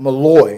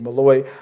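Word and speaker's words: Molloy: opens with Daniel uh Mallaloy. I was I said the name wrong last week. Malloy uh and Rasheed discussing Claudia's diary.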